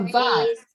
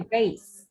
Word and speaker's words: vase: A vase or a vase. Okay. You can pronounce two ways. American will say vase.